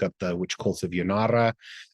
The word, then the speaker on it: Janara: You can look up the witch cults of Yanara. Yanara is spelled Janara.